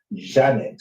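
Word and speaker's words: Djanet: It was Janet, spelled with a D, D-J-A-N-E-T.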